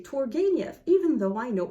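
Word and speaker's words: Turgenev: Turgeniev.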